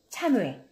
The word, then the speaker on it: 참외: 담보물 밥을 다름을 합니다 그런데 이 중 모임을 발음을 할 때는 그대로 참 이 있고 참 5일 가 됩니다 참외 참외 참외 차야 뇌가 이거 참 후에 참고해